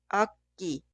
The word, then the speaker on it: 악기: Esta palabra significa instrumento músico y se pronuncia 악기, 악기, 악기.